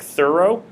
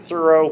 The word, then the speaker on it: Thoreau: was alive is actually named would have been more like thorough you know as in someone was doing a thorough reading of a book so henry david thoreau but we've kind of changed the pronunciation the emphasis to be that of Thoreau from the quote that